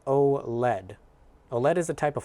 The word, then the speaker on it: OLED: And is pronounced OLED.